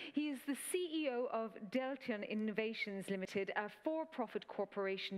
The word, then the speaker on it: Deltion: Do you like it pronounced Deltion or Deltion? It's Deltion. Deltion, well, over to you, CEO of Deltion Innovations Limited.